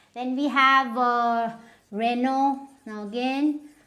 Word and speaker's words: Renault: Then we have Renault. Now again, this T is of no use, so it is Renault.